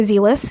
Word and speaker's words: zealous: zealous say it zealous some people might say zealous but it's generally zealous and but either way is fine I mean English sometimes in language that can have many pronunciations so zealous or z-list either one is fine it's an adjective that